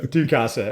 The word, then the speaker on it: Tsukasa: Tsukasa. Oh my. Sorry, Seth. the T. You pronounce the T.